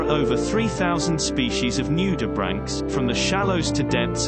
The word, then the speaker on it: nudibranch: when looking at the spelling of the word nudibranch it would be easy to say new to branch but the correct pronunciation is nudibranch number two on the nudibranch's